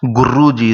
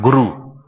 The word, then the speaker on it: Guru: In the Guru word, it is not that Guruji is coming. It's not Guru. It is Guru. Ru is there. Try to make it more finer.